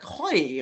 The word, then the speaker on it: Hoj: Oh, Hoj, H-O-J is the spelling, but I just heard on the phone they pronounced it like something else, like European, like Hoy or something like that.